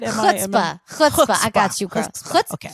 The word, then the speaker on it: chutzpah: They both had like chutzpah. How do you say it? Chutzpah. I got you, girl. Chutzpah. Okay. Yeah, you can do the cha.